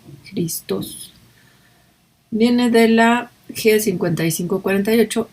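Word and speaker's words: Χριστός: Christos o Christos, parece que tiene acento en la O, Christos.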